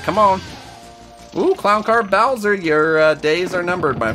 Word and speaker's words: Bowser: What you gonna do, Bowser? Why do I pronounce Bowser with a Z instead of an S?